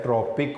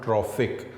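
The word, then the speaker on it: tropic: ये फिर स्पेलिंग ज़रा इसके आप गौर से देख लें, ये है ट्रॉपिक वर्ड, नॉट ट्रॉफिक।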